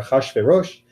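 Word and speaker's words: אחשורוש: Ahasuerus, and usually in the English pronunciation, or Ahashverosh in the Hebrew pronunciation.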